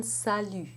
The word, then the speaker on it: salut: In the first syllable, you have a sa, which may sound to you like the sa in sat, but it's more open. The a sound in English, as in sat, does not exist in French.